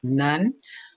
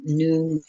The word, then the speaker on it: Nun: And Waters of Noon, some people might hear her name be pronounced Nun, but Noon is the sky.